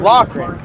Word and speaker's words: Loughran: Loughran. Yep. That's not spelled Loughran. Well, I'm Irish, you know, and in Ireland, Lough, L-O-U-G-H, that's how it's pronounced.